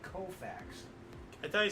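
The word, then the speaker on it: Koufax: them and 59 Sandy kfax broke Dy Dean's National League Mark of 18 strikeouts in the game woo wait a minute wait you cannot mispronounce his name I'm Sor the alltime great Sandy kofax I thought he said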